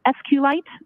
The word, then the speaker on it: SQLite: how is that spelled it is capital SQL lowercase i t and sqlite uh is also commonly pronounced as SQ light so both pronunciations are acceptable now once you receive